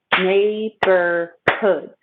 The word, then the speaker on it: neighborhood: many neighborhoods in edmonton to say the word neighborhood we need to remember there are three syllables neighborhoods neighborhoods neighborhoods neighborhood neighborhoods our emphasis is here okay made by hood neighborhood and e i actually says long a may be heard when you punch your stomach and say neighborhood neighborhoods